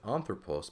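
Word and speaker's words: ἄνθρωπος: But as is with anthropos, because the spelling of this word, the accent is on the third to last syllable, or the first syllable here, coincidentally, that is just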